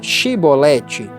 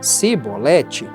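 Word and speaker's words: Chibolete: E se eles dissessem não, disseram-lhe então: Diz agora Shibolete. E ele disse Sibolete, pois ele não conseguia formular uma pronúncia correta.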